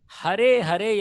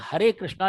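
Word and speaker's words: हरे: மூன்றாவதாக, ஹரே ஹரே என்பதை சிலர் ஹாரே ஹாரே என்று உச்சரிக்கிறார்கள். ஹிந்தியில் பார்ப்போமானால் ஹார்கயா என்றால் தோற்று போனார் என்று அர்த்தம், அழிந்து போனார் என்று அர்த்தம். அது ஹாரே கிருஷ்ணா என்றால் அதன் பொருள் அந்த விதமாக திரிந்து போகிறது. எனவே அதையும் சரி செய்து கொண்டு ஹரே கிருஷ்ணா என்று சொல்ல வேண்டும்.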